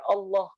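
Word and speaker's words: الله: Lam itu dibaca tebal, posisi ya, saya akan mulai dari posisi. Kalau tebal itu rongga mulut kita ini, rahang ini terangkat. Ya. Contoh misalkan saat kita mengucapkan Allah. Allah. Nah, ini ikut terangkat nih, teman-teman. Itu ciri berarti tebal itu. Jadi rongga mulut nih ya, rahang-rahang ini ikut keangkat ke atas. Itu ciri bacaan lam dibaca tebal.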